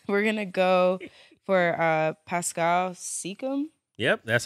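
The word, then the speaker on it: Pascal Siakam: my pick again we're gonna go for uh Pascal seeum yep that's how you say it yep we're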